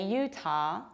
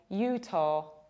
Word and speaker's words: Utah: And this state has two potential pronunciations. We can say Utah with long A at the end, Utah, or we can say Utah, Utah with final O.